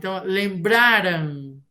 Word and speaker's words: lembraram: lembraram ela se lembrar sílaba tônica é a penúltima lembraram lembrarão comprar que significa